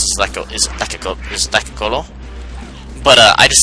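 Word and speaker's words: Lekgolo: Their native name is the Lek Golo.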